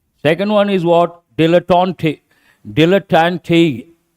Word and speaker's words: dilettante: Dilettante. T-E is pronounced as te.